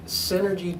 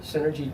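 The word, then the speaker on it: Senergy: He is the CEO of Synergy Technologies. That's spelled S-E-N-E-R-G-Y, like energy, with the S in front of it. Synergy Technology.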